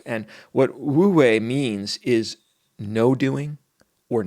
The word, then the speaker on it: Wu Wei: Now, I've also heard this pronounced U Wei. And I'm sure I'm butchering the Mandarin. I don't have the tonality that is necessary to really speak that language, but I think that's close enough.